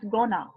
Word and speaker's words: going to: Okay, so in spoken English, okay, going to, it's often pronounced as gonna.